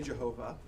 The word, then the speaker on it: Jehovah: get our word jehovah in english we say jehovah but that j in the hebrew is actually a y which is why it's yahweh on this is that